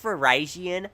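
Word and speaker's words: Virizion: It's like Verizon wireless. Why do I sound like such a nerd emoji? Um, actually, it's pronounced Verizon.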